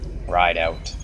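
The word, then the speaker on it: Rideout: sorry Anthony Anthony what ride out how do you spell that the way it sounds I don't know how that sounds ride out ride out r i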